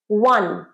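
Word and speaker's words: one: wonderful ওয়াহ ওয়াহ এটা কি consonant এই ওয়ানের প্রোনাউন্সিয়েশন টাও অনেকটা এরকম ওয়ান ওয়ান ওয়ান্ডারফুল ওয়ান তাহলে ওয়ান কিন্তু কনসোনেন্ট সাউন্ড তাই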